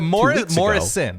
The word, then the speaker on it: Morrison: Also, 3 picks for Benjamin Morris, who had 2 picks. Is it Morrison, right? Morrison, excuse me.